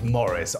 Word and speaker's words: Maurice: good job I would I would vote for Maurice well obviously it's Morris obviously it's Morris for